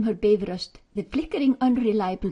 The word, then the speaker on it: Bifröst: Pronounce be rust by all means, not by frost, please. And keep the accent on the first syllable as always in Icelandic.